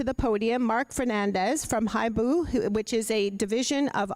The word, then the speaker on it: Hibu: By the way, that's pronounced Hibu Networks, and the Chief Information Officer of Hydro Ottawa.